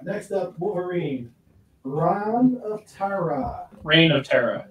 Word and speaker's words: Reign of Terra: All right, next up, Wolverine, Reign of Terra. Reign of Terra. It's, is it pronounced Reign? Yeah, it's a pun.